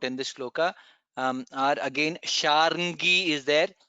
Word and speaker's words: शार्ङ्गी: this shloka are again Sharngi is there. We have to pronounce all the three letters Ra, Ng, Ga. Sharngi. That's how it is pronounced.